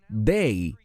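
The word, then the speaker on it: δεῖ: Hay una palabra griega de solo tres letras, se pronuncia day en griego y se refiere a algo que tiene que ocurrir.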